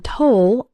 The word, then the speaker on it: toll: The O in toll sounds like in the words know, so, roll, and told.